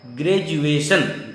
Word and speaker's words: graduation: तीसरा है एजुकेशन, चौथा है एजुकेटिव, पांचवा है एजुकेशनल, छठा है एजुकेटेड, सातवां है ग्रेजुएशन, GRADUATION। यहां भी डी का उच्चारण बड़ी जॉ होता है, ग्रेजुएशन।